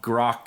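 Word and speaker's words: Grok: attached AI okay and I think it's pronounced Gro it's g r o k okay well now grock 3 is out and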